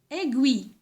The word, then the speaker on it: aiguille: Regardez, A-I. C'est quel son? C'est le son E.